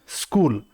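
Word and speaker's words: school: आगे बढ़ते हैं अब स्कूल स्कूल में कुछ बच्चे इसे भी ई से बोलते हैं बट ऐसा नहीं है यह आधे स से शुरुआत होती है स्कूल तो स चाहे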